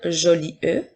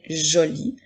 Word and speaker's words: jolie: est une lettre muette nous n'allons pas dire joli e mais bien joli comme dans la phrase